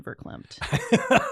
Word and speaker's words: verklempt: The only words I can think of right now are wussy and verklempt. Verklempt. Add that to my vocabulary. Verklempt. Oh, emotional in a way that you can't speak. I have seen you verklempt.